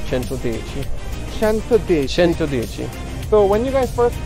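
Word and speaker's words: Centodieci: out of italy and that's why we pronounced the name 110 in italian and so it's called chanto deichi so when you guys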